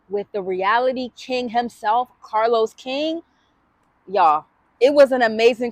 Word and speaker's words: Carlos King: King reality TV Kings Carlos King did I say that right yes you said it right yes okay okay period